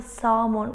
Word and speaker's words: salmon: Keep calm and have the salmon ready in half an hour?